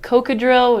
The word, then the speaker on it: Kokadrill: It's pretty phonetic. It sounds like a what do you call it? Prescription.